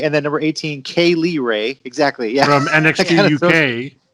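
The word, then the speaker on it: Kay Lee Ray: to each other on purpose and they're like pronounce it now yeah kylie ray and then number eighteen k lee ray exactly yeah from nxt uk nxt uk uh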